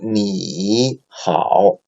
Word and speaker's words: 你好: So if 你 is followed by 好, so the original tone of 你 is the third tone, right? Then it changed to second tone. So in practice, we pronounce as 你好 instead of 你好, right?